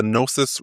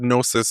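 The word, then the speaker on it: Gnosis: So, I named it uh the Nosis report. Um and the word Nosis is spelled G N O S I S.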